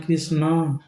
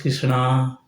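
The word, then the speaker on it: कृष्ण: It is not Krishna. It is Krishna.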